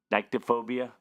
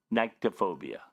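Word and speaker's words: nyctophobia: Uh I don't know again pronunciation. Nikeobia. Well, if you say something that you don't pronounce correctly, how am I going to know what it means? NY nyctto. Niktophobia.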